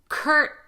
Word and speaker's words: curtain: When you have ton as the word ending, curtain.